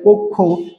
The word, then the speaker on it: কক্ষ: যে ক খারে দক্ষ তেমনিভাবে আমরা আরো লিখতে পারি কক্ষ কক্ষ বর্ণের কক্ষ বানানটার উচ্চারণটাও ঠিক এমনই হবে ক এর সাথে